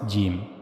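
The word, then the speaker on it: ج: G the middle of the tongue should be meet with the roof of the mouth. That's how you have to pronounce gimm.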